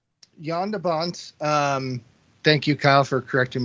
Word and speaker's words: Jan de Bont: So Jean Debonnet, I believe is how you pronounce it. Jan de Bont? Jan de Bont. Oh, is it Jan de Bont? Yeah. Wow, You've both been saying it wrong.